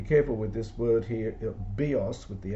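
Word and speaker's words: βίος: Bios with the accent on the iota, I think means life, and bios with the accent on the last syllable means a bow, as in like a bow and arrow.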